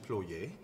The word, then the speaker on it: ploye: know no no okay so in french it's actually ployee okay employee means to